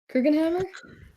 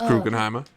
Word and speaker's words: Krugenheimer: Can I ask, I already forgot how to pronounce his name. Krugenhammer? It's Krugenheimer.